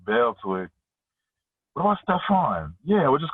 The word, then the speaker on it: Stephen: So your name is Stephen, but it looks like it's pronounced Stefan.